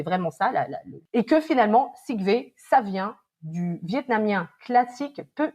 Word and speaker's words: Xich-Vê: Puis d'ailleurs, la première chose que tu me dis, mon nom c'est Sigve, ça s'écrit comme ça se prononce.